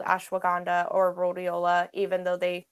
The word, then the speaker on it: ashwagandha: Yeah, that second one is, how do you pronounce that? Ashwagandha.